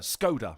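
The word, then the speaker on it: Škoda: now all of like all the adverts they're not saying scoda they CU they always used to say scoda and you get the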